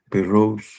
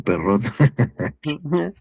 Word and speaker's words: Perroux: Ya por ahí me puso el nombre eh, Juan Luis, y sí, sí es François Perrault, ¿no? No sé por qué siempre lo hago inglés, ¿no? Perrot.